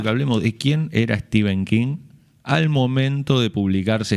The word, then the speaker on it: Stephen: E no, lo primero que se te ocurre es decirle Stephen. Yo me enteré que se llamaba Steven a partir de escuchar entrevistos en realidad, ¿no?